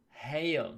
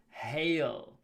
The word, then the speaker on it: hail: sky it is hail remember to pronounce the h ha hail not ale or ale or anything like that hail hail is the noun